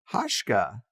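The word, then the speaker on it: Hauschka: was Louis Kevin and Rudolph hashka I think is how he pronounced it but Rudolf hoshka's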